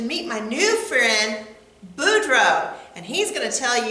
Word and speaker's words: Boudreaux: kids my name is Boudreaux that's pronounced boom drove and I'm here to